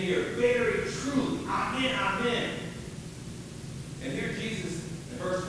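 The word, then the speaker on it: ἀμήν: And in the Greek Bible, it's literally pronounced, amen, amen.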